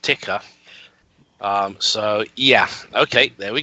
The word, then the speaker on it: Tycho: Even though it's spelled Tycho, as in the crater, it is actually pronounced Tycho.